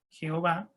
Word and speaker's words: Jehová: Porque la I en los idiomas latinos terminó siendo una J, pues se pronuncia G, Jehová. En la H pusieron una E, en la V pusieron la A, y así quedó Jehová.